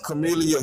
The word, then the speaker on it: Kamala: Kamala or Kam I don't know how to pronounce it. Is it Kamla or Camala? It's Chameleia Harris.